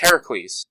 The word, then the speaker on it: Heracles: He's actually supposed to be pronounced Heracles.